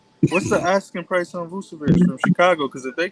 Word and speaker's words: Vucevic: In Ayton and Wendell and how you pronounce his name? Vucevic.